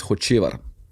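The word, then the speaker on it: Hočevar: The way you actually pronounce it in Slovenia is Hocevar, right? It's like the C with the hat on the top.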